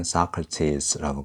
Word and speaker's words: Socrates: Socrates가 우리 소크라테스라고 발음하죠. 영어에서는 Socrates라고 발음합니다.